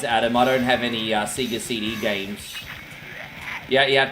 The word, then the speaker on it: Sega: It's pronounced Sega, not Sega.